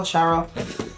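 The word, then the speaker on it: Syaro: You know, her name is spelled S-Y-A-R-O, but they pronounce it different in the show. So Shiro? Sharo?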